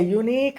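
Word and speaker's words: unique: Next, this is ए यूनिक idea, ये एक ही किस्म का, अलग किस्म का आइडिया है, नया, अपने आप में एक है, यूनिक, यूनिक है। YOU आ रहा साउंड, वावेल का साउंड आ रहा, इसलिए एन के बजाय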